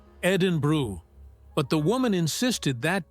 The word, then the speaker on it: Edinburgh: Another tour guide in Scotland told me about a group that kept referring to Edinburgh as Edinburg, no matter how many times she corrected the pronunciation.